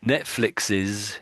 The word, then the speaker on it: Netflix's: So he's got an X there, and sort of X sort of sounds a bit essy as well, doesn't it? X or Yeah, yeah, flicks, it's actually and easy, then put an S on easier. there. Yeah, Yeah, it yeah. kind of disappeared the S on the end there.